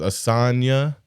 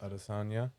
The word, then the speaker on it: Adesanya: Asanya is one. Asanya and Acosta, I think was. No. Put in fighter. Asanya with a Y. Adesanya, is that it? Adesanya. Yeah. Guy, Israel Adesanya.